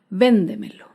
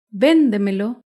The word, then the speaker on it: véndemelo: Por ejemplo, la palabra véndemelo. Véndemelo se acentúa en la sílaba anterior a la antepenúltima sílaba. Véndemelo.